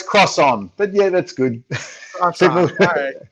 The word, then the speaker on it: Crosson: Is that the right pronunciation? Oh, pretty close, Crosson. But yeah, that's good. Crosson.